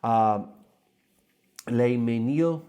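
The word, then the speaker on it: Le Mesnil: Les Ménil, M-E-S-N-I-L.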